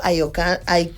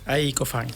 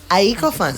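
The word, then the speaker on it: A'i Cofán: Por el otro lado, a mi derecha, nos acompaña Nixon Andy, del pueblo Ayocán. Corrígeme la pronunciación. Aycofán. Aycofán, Sí.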